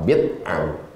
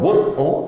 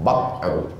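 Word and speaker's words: بضع: Bikasril ba dibaca bawah bid'u. Kalau bud'u artinya kemaluan perempuan. Wa fi bud'i ahadikum shadaqah. Nah, jadi hati-hati membacanya. Waqad tuftahu, kadang-kadang dibaca bad'u. Jadi kalau ada ustaz yang membaca al-imanu bad'un, salah tuh Pak Ustaz. Kau yang salah. Bacalah Riyadhus Shalihin, bisa dibaca bid'u, bisa dibaca bad'u.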